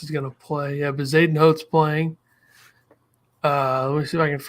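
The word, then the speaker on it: Bezuidenhout: Bezadenhout.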